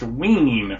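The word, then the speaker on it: Wein: pitlick destroy the Multiverse it is pronounced wean for those who are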